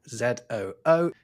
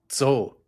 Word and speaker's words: Zoo: But in German, "zoo," spelled Z-O-O, is pronounced "tzo," not "zoo."